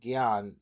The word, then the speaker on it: Gyan: Captain sends out a mo called gan that's what the captain said is pronouncing correct.